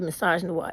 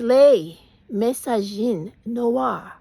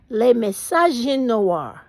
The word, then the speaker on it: les messages noirs: Please stop with the message noir. It fucking cringes. It makes my back fucking curl when you do it because it's like, stop fucking up the language. That's not how it's said. It is les messages noirs. Les messages noirs. It's so fucking easy. It don't even take no effort. It just rolls off the tongue.